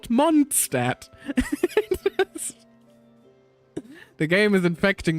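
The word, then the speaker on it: Mondstadt: It's technically Monstat, not Monstat.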